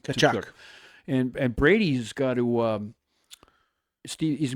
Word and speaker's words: Tkachuk: Tkachuk.